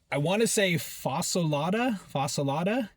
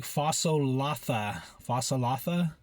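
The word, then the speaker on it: φασολάδα: It's a Greek dish, and it's like fasolatha. Um, like it looks like one thing, but you pronounce it a different way.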